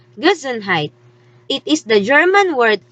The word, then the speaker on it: Gesundheit: that is a funny looking word which is pronounced gizenheit it is the german word that we show